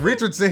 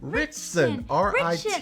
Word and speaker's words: Ritchson: It's not Richardson. He's not one of us. Well, I don't know. He ain't family. What's his name then? Richson. Ritchson. That's what I say. Richson.